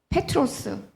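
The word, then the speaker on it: Πέτρος: 다 반석 돌이라는 뜻입니다 그 베드로라는이 단어 발음 페트로 페트로스 이런 뜻이죠 그니까 어원은 바위 반석을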